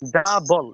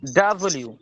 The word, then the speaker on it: W: ডাবল এভাবে, ডাব এভাবে না, ডাব্লিউ।